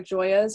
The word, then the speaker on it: Gioia: catalog is wrong it's like it should be joya underscore i don't think i and i think in the catalog it just says all blurred together but i don't think there's a lot of other joyas or so i think you can figure